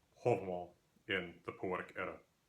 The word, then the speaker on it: Hávamál: Now the pronunciation that I'm using here is reconstructed medieval old Norse pronunciation. This is uh an approximation of what linguists believe the old Norse language would have sounded like in about the 1200s when the poem Hoval was written down. The pronunciation you may be more accustomed to hearing Halval is based on modern Icelandic pronunciation which is often used